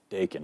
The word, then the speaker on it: Dakin: Dakin, okay. Heard it pronounced a couple different ways, but you got